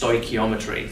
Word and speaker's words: stoichiometry: is how you spell it um and it's pronounced stochiometry so it's a really complicated sounding word um